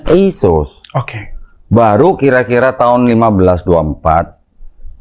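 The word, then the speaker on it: Iesus: Dari Yesus nanti tulisan latinnya juga begitu dibacanya Yesus.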